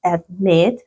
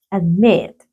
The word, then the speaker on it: admit: prefer tienen dos verdad y la mayor fuerza de voz está en la última sílaba Sí también entonces la mayor fuerza de voz está aquí no en la última sílaba admit prefer listo Entonces vamos a